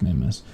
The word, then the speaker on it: Mimas: Zeus and the Olympians the customary English pronunciation is mimas the Greek Latin rooted